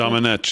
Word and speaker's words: Domenech: Actually, I was watching it on the network when I saw Ben Domenech. Is that the way you pronounce it? Domenech, yeah.